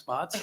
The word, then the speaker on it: Spatz: Believe it or not, it is pronounced Spotts.